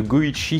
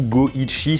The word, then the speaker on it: Goichi: Et son pseudonyme Suda 51, ça vient du fait que le 5 peut se prononcer Go en japonais et le 1 peut se prononcer Ichi, donc du coup Goichi 5151, astucieux n'est-ce pas ?